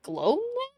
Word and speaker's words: gloom: deep into the gloom but they pronounced that gloom to rhyme with home huh young Tom was